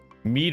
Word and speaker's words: mead: Mead rhymes with need. So it is mead.